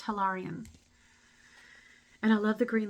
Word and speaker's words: Hilarion: He's telling me it is pronounced Hilarion.